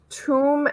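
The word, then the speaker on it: tome: Jose tomb of tatters tomb as in ancient book of knowledge tattered as in torn apart the e is silent on the end and tatters is not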